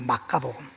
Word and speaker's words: 마가복음: 마가복음 8장 38절에, 지금 우리가 번역할 때 마가복음인데 원어대로 이 발음을 하면 마카복음이에요. 마카복음.